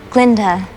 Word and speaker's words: Glinda: Glinda. The G is silent.